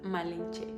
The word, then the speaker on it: Malinche: Los indígenas comenzaron a llamarla Malencia, un título que combinaba su nombre con el sufijo honorífico sin los españoles lo pronunciaban malenche y con el tiempo ese nombre se transfirió también a Cortés.